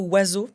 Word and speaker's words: oiseau: Là pour le coup, c'est pas vraiment des lettres muettes parce qu'on les prononce mais ces groupes de lettres o i fait wa e a u fait o.